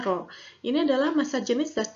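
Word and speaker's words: rho: Pa Lalu ada Arok bukan ke ini ya dibacanya roll ini adalah massa jenis zat cair dengan satuan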